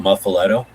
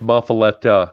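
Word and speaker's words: muffuletta: I think it's pronounced muffaletta with a A at the end.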